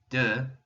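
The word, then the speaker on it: deux: you're saying the grain just like in our word for two duh we have that eu that new vowel sound and f is one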